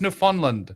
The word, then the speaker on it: Newfoundland: It's pronounced Newfoundland.